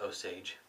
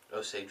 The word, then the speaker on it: Osage: but in my part of the world that's oage oage rub that's how we're pronounce it over in this part of the